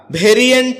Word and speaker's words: variant: ভেরিয়ান্ট এটাকে আমরা ভেরিয়েন্ট বলে থাকি। যার সঠিক উচ্চারণ হচ্ছে ভেরিয়েন্ট।